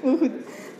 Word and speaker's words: Mouhoud: Est-ce que c'est bien prononcé ? Donc comment Mouhoud, El Mouhoud, Mouhoud.